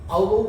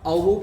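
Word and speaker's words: Aufbau: एक होगा ऑफ बोह principal, इसको F साइलेंट करके पढ़ते हैं, F is silent here, ऑफ बोह मत बोल देना, इसको क्या बोलेंगे, ऑफ बोह प्रिंसिपल।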